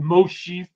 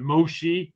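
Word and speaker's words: משה: That's where Moses, but Moshe is another way of pronouncing it. Or you can do it Moshe without the H, you know, which means son of water or was drawn out of water.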